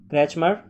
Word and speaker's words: Kretschmer: पहला ऑप्शन आपका क्रैचमर या क्रैचमेर भी बोलते हैं कई लोग, है ना। स्पेलिंग है KRETSCHMER, पीछे भी ऑप्शन गया है ये।